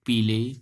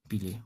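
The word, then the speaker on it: Peele: Okay, Kid, Nash, Lily, Pele, Green, Marlowe.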